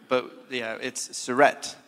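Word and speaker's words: Suereth: It's Surrett, with that nice silent H on it.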